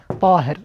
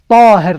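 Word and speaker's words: طاهر: This is the meaning also of the word Tahir. Tahir, not Tahir. Make sure to pronounce the ta, not ta. Here ta, not ta. Some people mention and pronounce the ta as a ta. It is not.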